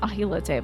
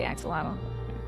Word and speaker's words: axolotl: Oh, the axolotl, right, which is also, I think, pronounced ahilote, but I sometimes say ahilote and sometimes I'll say axolotl.